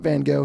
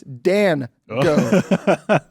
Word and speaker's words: Dan Go: Um, and I have to say his name's slow because it can sound like Van Go. It's not Van Go. His name is Dan Go.